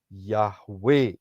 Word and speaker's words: Yahweh: Ya, kalau Saudara perhatikan huruf-huruf di depannya adalah YHWH, yang dipronunciasikan adalah Yahweh itu sendiri.